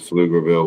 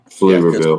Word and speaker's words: Pflugerville: Yeah, I think it's top-heavy with with with Pflugerville Weiss.